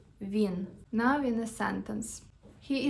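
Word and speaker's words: він: First one is he, which in Ukrainian is vin. Let's say it vin.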